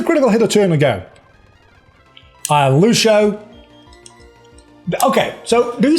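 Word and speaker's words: Luxu: And it's spelled L-U-X-U, and it's pronounced Lucio.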